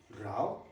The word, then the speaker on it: row: Second pronunciation, row. Row. Sounds different, right? It rhymes with cow.